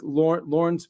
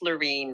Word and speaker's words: Laureen: And I know there's going to be some agents, like I like Lauren's point. I hope I'm saying your name right. It's pronounced Lorene, but Laureen.